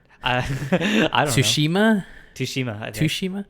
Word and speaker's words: Tsushima: So the nominations were Ghosts of Tsushima. I don't know. Tsushima. I think the T is silent. Tsushima.